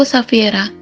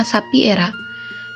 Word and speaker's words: Safiera: Safiera, namaku Safiera, dan aku tidak membiarkan kalian memanggilku dengan nama Sapi Era. Tidak seperti itu pronunciation-nya.